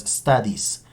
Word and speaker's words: studies: Entonces, ojo que aquí la E no suena. Ustedes dirán, ¿se dice studies? No, es studies. Studies, sin esta pronunciación de la E.